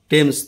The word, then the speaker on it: Thames: মনে রাখবে টেমস নদী, বানানটা কিন্তু THAMES, টেমস নদী, ঠিক আছে, এই টেমস নদীর কথা বলা হয়েছে।